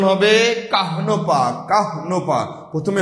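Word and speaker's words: কাহ্নপা: আচ্ছা প্রিয় ভাই বোন আমার চর্যাপতির আদি কবিকে কাহনপা কুকুরিপা এটার উচ্চারণ কিন্তু হবে কান্নপা না অনেকেই কান্নপা বলেন এটা উচ্চারণ হবে কাহনপা উচ্চারণ হবে কাহনপা কাহনপা প্রথমে হ এরপরে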